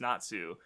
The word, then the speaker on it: Natsu: with the flames, but considering like when it's written out in Roman letters, it's very clearly Nuts, and Nuts is still pronounced Natsu.